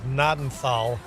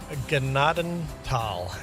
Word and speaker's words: Gnadenthal: Uh we are playing on Gennadal. You may have heard it pronounced as Nadenthal, but they would be wrong. This is where I grew up. It's my map. It's pronounced Ganadenal, as in Grace Valley in German.